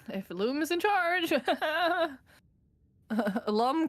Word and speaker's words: Loom: But you know, if Loom is in charge, Lum kind of rhymes with dumb.